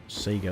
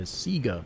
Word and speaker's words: Sega: kid and then some years later got a Sega. Of course, at the time in Australia, we just called it Sega. We didn't pay attention to actual proper pronunciation. So, you'd hear Sega instead of Sega.